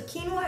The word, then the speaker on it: quinoa: So quinoa is spelled Q-U-I-N-O-A, but it's pronounced quinoa.